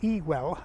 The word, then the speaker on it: Ewell: Ewell is an Anglo-Saxon name, and it's either pronounced Etwell or Ewell. If you talk to people who don't know the place, they will actually often say Ewell, which is very close to the Saxon pronunciation.